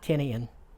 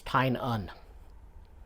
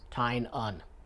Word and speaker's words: Tynion: some interviews with him it's Titan it's not tinian it's not tiny and it's tying on think t-i-n-e-u-hn that's how you pronounce it tying on I mean yeah I couldn't tell by looking